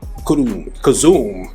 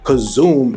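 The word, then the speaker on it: köszönöm: and on that note Kum kazum I said it wrong kazum is how you say Thank you so I learn my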